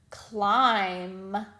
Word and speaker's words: climb: you would be right the b does not make a sound we just hear the m sound one example of this would be the word climb we do not hear